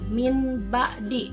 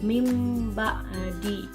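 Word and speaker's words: من بعد: ba'di jadi eh anak-anak dibacanya itu tidak e Min ba'di tetapi diganti E menjadi mim ba'di nah yang di mana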